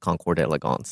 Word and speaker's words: Concours d'Elegance: Is it a Concours or Concourse? I believe it is pronounced Concours d'Elegance.